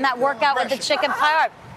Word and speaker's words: paillard: By the way, Alex, is it do you pronounce the D in paillard or is it paillard? It's paillard. You say the D? Just a little Somewhere bit. in the middle.